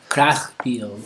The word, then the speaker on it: Kriegspiel: Kriegspiel. Krach? It's Krieg. It's I-E, not E-I.